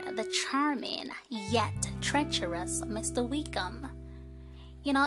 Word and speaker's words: Wickham: Wickham. You know, his name kind of rhymes with wicked, as in Wicked Wickham.